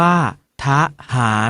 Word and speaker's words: ทหาร: อะ กึ่ง เสียง เช่น ถ้า ทหาร ออก เสียง ว่า ทหาร อยู่ ถนน ออก เสียง